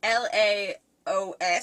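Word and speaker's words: Laos: national dish of Mayo's I can't pronounce Leos it's la OS sorry if you're from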